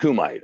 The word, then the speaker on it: kumite: Well, I call it Kumite. I mean, it's pronounced Kumite.